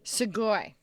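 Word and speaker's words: Sugoi: So how in the world did you end up at how do you pronounce it? Sugi. Siggoy. Sugoy. Yes. Hello. Hello. Segoy.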